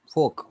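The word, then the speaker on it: folk: डटा है 10 Paraj फोल्क फोक फोक नॉट फोल्क it's silent व 30 पर और लाइट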